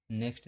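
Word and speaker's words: knock: Next देखते हैं। के कब साइलेंट होता है? जब एन से पहले के आता है तब के का उच्चारण नहीं किया जाता है।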